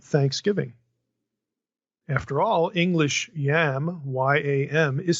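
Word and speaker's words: ים: After all, English yam, Y-A-M, is spelled the same as Hebrew Y-A-M. And I'll pronounce both the same way to make the point, exactly the same, yam.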